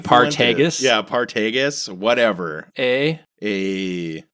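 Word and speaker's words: Partagás: he loves to pronounce apparently it's paragus but it should be paros partus yeah paragus whatever A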